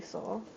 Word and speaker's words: Sol: I'm trying my best to pronounce these names but just call me Soul.